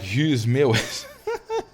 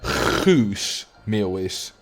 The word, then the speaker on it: Guus Meeuwis: Oh yeah, Brabanders, they do have a soft G. The soft G. Like Guus Meeuwis. Instead of the proper Guus Meeuwis.